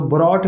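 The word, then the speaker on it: brought: तो जो ब्रॉट लिखा है इसमें आप देख रहे हैं कि GHT है ना, GHT। तो जब GHT हो तो GH इसमें क्या हो जाएगा, साइलेंट। तो यहाँ पे जो GH है यह साइलेंट हो गया है।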